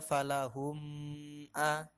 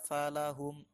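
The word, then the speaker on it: فلهم: itu harus dibaca pendek Jangan dibaca dengung jadi jangan dibaca Falah omeah tapi dibaca falahum adem sukun bertemu selain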